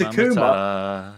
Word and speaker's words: Akuma: up-and-coming talents even like akura akuma apologies for the pronunciation it is akuma they've they've made it